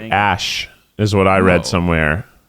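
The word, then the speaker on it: Æ: No, it's I think it's pronounced like Ash is what I read somewhere or something like that.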